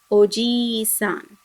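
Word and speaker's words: おじいさん: kindly notice here that you have to make this long e sound otherwise it may give a different meaning so it should be read as ogi sun the next one is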